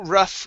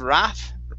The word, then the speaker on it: rough: A couple rough games. Make sure on rough it's a rough sound instead of raff with an ah.